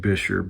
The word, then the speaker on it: Buescher: about snap-in resonators on Bucher pads, Bisher, I should be saying Bisher, but I Anyway, when you're working with these uh snap-in resonators on these old bucher or bisher, depending on how you say it, saxophones, there's kind of an argument.